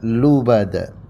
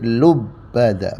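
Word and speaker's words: لبدا: di sini ada lubada ada dua bacaan yang pertama seperti biasa lubada itu mayoritas Imam membacanya seperti itu seperti yang kita biasa baca lubada tapi yang kedua ya qiraat yang kedua itu dengan menasdidkan huruf bnya menjadi lubbad bnya ada tasdid ya ya teman-teman lubada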